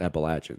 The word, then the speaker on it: Appalachian: in the know told me like no it's Appalachian so I I've said that for a long